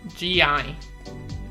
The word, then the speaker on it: gi: I just mispronounced it and I kind of... So how do you say it then? Gi. Gi? Yeah. Yeah. Silly me.